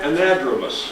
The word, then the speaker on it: anadromous: Could you pronounce the fish and what kind of fish are they? Yes, say it again. Anadromous.